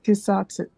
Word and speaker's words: schizotypy: He's pronouncing it wrong. It's schizotypy. It's Schizotypy? Yeah. It might be schizotypy. He's pronouncing it as schizotypy.